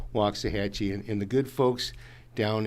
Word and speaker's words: Waxahachie: The wax is spoken walks if you say it right, but it's wax to the lax, they've no linguistic might. Hatchie rhymes with Apache, which has never been hard to say, yet after the walks, folks simply lose their way.